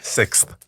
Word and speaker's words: sixth: Sixth. Sixth. Sixth. See, you start giving yourself a listen the more you say it. Yeah, you're right. Still you got to pronounce that th at the end.